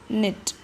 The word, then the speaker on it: knit: next alphabet is k k for Knit silent now example sentence she